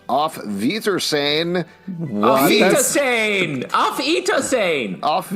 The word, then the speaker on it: Auf Wiedersehen: It's with a W and you say with an F?